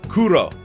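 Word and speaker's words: クロ: your crow got it crow which in japanese is pronounced but kuro which is literally japanese for black it makes so much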